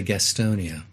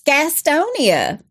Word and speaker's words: Gastonia: to say this and when living in North Carolina that's how you say it you don't say Gastonia it's Gastonia but it's Gastonia okay Gastonia North Carolina that's